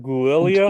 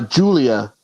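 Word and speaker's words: Giulia: me this uh what how do you say it guia no uh Julia okay that's kind of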